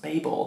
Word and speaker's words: Babel: this full crisis like i swear this was pronounced babel but it's because we pronounced it differently in the uk and in america um and so for